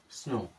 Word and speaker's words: SNOW: OW है तो ओ की तरह उच्चारण करना है और क्या हो जाएगा? स्नो।